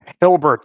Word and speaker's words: Hilbert: Hilbert. 2 syllables. Hilbert. Hilbert effect.